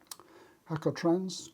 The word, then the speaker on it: Jacotrans: So I used one called Jacotrans, J-A-C-O. I presume you pronounce that Jacotrans.